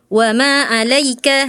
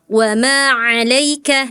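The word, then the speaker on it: وَمَا عَلَيْكَ: Ee kemudian huruf ain ya. Ada beberapa huruf ain kakak tadi seperti huruf hamzah jadi kurang nekan gitu ya. kurang duduk ainnya ya. Ee misalnya di surat Abasa tadi kakak wama alaika harusnya wama alaika di sini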